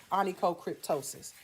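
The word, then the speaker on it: onychocryptosis: cryptosis and toe my toe sis right okay anicocryptosis now this next one this one often mistaken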